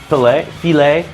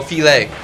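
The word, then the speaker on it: filé: Did you pick up filet?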